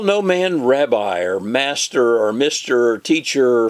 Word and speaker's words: Rabbi: Rabbi by the way if I was a Jew I'd probably say Robbie but I'm going to pronounce it the way what we're used to do not be called Rabbi for one is your